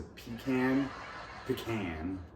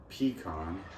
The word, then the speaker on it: pecan: There's 4 ways to pronounce this nut. the pecan. It's a pecan, pecan, and pecan. All four are used, so don't judge people for pronouncing words differently than you're used to.